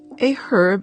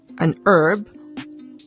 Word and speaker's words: herb: or in making medicine in the united states the h in herb is silent in britain sounded we say an herb while the british say